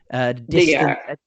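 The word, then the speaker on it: DEAC: Would you pronounce this acronym as DIAC? DIAC.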